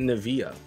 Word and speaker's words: Nivea: So we pronounce it Nivea.